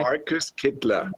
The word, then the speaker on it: Kittler: Am I pronouncing it correct? Markus Kittler.